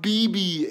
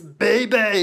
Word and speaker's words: Bebe: And Buccaneer BB is going to be a B beast, except her name's not BB. It's Bebe.